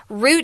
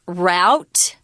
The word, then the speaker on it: route: Route is also pronounced route. They're both completely correct.